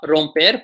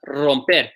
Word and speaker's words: romper: Words that start with an R, you got to roll that R pretty hard. So things like this word, break, not romper, but romper.